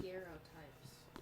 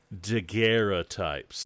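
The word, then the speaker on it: daguerreotype: fine art photography and she would like to tell me that their called deera types the French pronunciation is it French deer deera types they came to us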